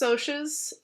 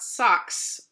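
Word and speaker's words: Socs: the sotius and sidenote it is pronounced OSHA's not socks so just keep that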